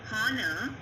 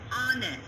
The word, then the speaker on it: honor: Students, hear all these words, the first letter H is silent and the second letter gives the vowel sound.